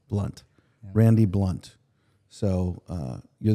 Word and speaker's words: Blount: say your last name you say it blunt blunt Randy blunt so uh